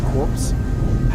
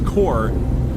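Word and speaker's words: Korps: difficulty with this because it is spelt k-o-r-p-s i'm always terrible as if it's core or corpse that being said i'm imagining its core because we know we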